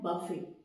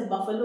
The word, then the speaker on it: buffet: बफे। जैसे बफेलो बोलते हैं ना, लाइक दैट। बूफे नहीं है, इट्स बफे।